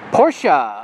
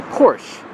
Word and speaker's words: Porsche: they say uh well when they talk about Porsches they say Porsche but that's actually the incorrect way to pronounce it not that I'm an